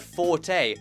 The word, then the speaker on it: forte: And third, it's not actually pronounced fort, but forte, quadrupling down on the fact that our main character is shit at writing haikus.